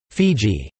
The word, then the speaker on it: Fiji: is from this that the name, Fiji, is derived, though the common English pronunciation is based on that of their island neighbours in Tonga.